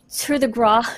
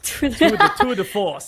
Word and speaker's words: tour de force: Once you get your ult, you've got a free 1-shot, 1-kill, basically with your, how do I pronounce it again? Tour de Gras. Tour de Force.